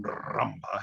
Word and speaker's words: rumba: You've got to roll your R on rumba, haven't you?